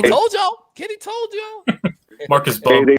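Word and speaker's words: Marcus Mbow: It's Marcus Bo. Yeah, M is silent. I finally Googled it. Kitty told you. Kitty told you. Marcus B.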